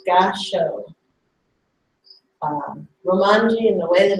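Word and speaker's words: Gassho: It's called Gasho. Romanji, in the way that it's spelled in English letters, is G-A-S-S-H-O.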